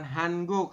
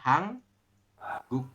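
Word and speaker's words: 한국: akhir seperti itu oke maka ini bacanya bukan hanguk tapi kita membacanya adalah hang guk seperti itu Oke kita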